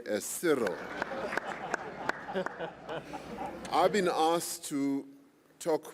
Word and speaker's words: Cyril: to two different factions he belongs to one faction that pronounces my name as cyril i belong to the affection that pronounces my name as cyril i've been asked to